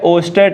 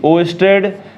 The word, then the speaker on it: Oersted: तो आज हम सबसे पहला जो टॉपिक पढ़ने वाले हैं इसका वो है ओस्टेड एक्सपेरिमेंट, ठीक है। इसकी स्पेलिंग मैं एक बार देख लेता हूं, OERSTED ओस्टेड एक्सपेरिमेंट।